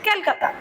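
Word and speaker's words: Calcutta: কি বলছে, এই যে আমরা কলকাতা বলি ইংলিশে, সেটা আমরা দেখবো উচ্চারণ হবে ইংরেজিতে ক্যালকাতা।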